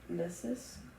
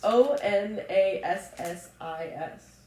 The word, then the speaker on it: Onassis: O N A S S I S onesis. Onis ones. Onassis. That makes much more sense.